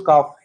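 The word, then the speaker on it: calf: नवजात बच्चे को इसके अंदर से एल को गायब कर। ऐसे बोल काफ। ऐसे बोल काफ। हाँ ल नहीं आता इसके अंदर, एल साइलेंट ही होता है इसके अंदर।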